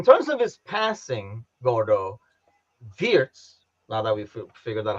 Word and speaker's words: Wirtz: Wirtz. W is a V.